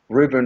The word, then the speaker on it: Rubin: I actually referred him right away to Eric Rubin, and I say it's easy to remember Eric Rubin, like a Reuben sandwich, but it's spelled I-N, in San Francisco, who is one of my favorite chiropractor in that area.